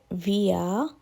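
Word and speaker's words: wir: অর্থাৎ এটি ভি ভিয়া আমরা জার্মানরা ডব্লিউ কে ভি উচ্চারণ করে সুতরাং উই হবে ভিয়া ইউ প্লুরাল ক্ষেত্রে ইয়া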